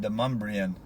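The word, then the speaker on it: Demonbreun: video it's spelled like demon brune but it's pronounced demumbrian Street and the uh I think Joseph de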